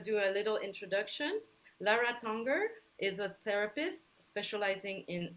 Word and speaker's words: Tanger: Is that pronounced well? Yeah, Tanger is good, but I'm okay with Tanger.